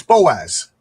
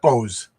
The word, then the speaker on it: Boaz: It's Boaz. Not Bose.